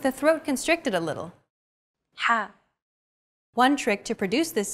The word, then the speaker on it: ح: Ha. This sound is pronounced very deep in the throat. You want to make an H sound, but with the throat constricted a little. Ha.